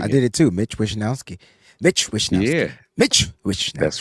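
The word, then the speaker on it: Mitch Wishnowsky: Jake Moody, Mitch Wisnowski. Oh, I said it right.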